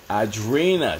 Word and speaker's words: Adrina: getting here late yes Adrian Turner What's going Adrina I'm sorry Adrina she says so if you g